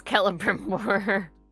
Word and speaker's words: Celebrimbor: It was this point that I realized it's not Celebrimbor, it's Celebrimbor.